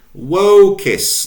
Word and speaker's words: vocis: Vox, feminine, vocis. Notice the elongation of the O.